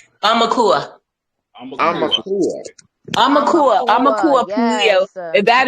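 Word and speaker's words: aumakua: Amaka? How do you pronounce it? Amakaya? Amakua.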